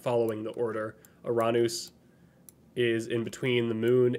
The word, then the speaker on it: Uranus: Yes, that's the Uranus is, I was taught, is the Greek pronunciation of it. And it's my preference most of the time. So it's the, you know, that's how they would pronounce the Greek god. So subsequently, we pronounce the planet as such, or can.